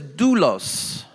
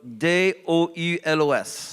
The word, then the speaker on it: doulos: Okay, the word is doulos. Le mot doulos en grec. So D-O-U-L-O-S. Ça se Okay, prononce comme ça. doulos.